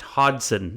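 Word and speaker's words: Hodgson: the way it's pronounced Hodson you don't pronounce the G hson interesting yeah so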